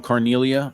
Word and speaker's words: Carneglia: yeah it's John John carneglia okay or John or John Cornelia is silent G some people say you have to say it like Cornelia not Charles who's in